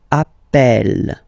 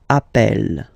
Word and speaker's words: appelle: You tend to pronounce it like E, E, really open. That's the reason why you pronounce it appel, appel, okay?